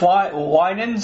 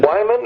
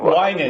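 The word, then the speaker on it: Wynans: Winans. How do you pronounce his last name? Yeah, Winans. Winan. That's what, because I knew it was not Wyman, is what I used to say, but it's Winan.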